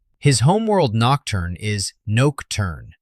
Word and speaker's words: Nocturne: His home world Nocturne is Noke-turn, silent final e.